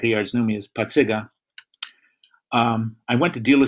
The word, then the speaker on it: Pacyga: I grew up in back of the yards and I pronounced my last name Pacyga, and everybody in the back of the yards, even the Mexican and Irish kids could say Pacyga.